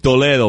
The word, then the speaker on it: Toledo: Toledo, bro. That's how you pronounce it.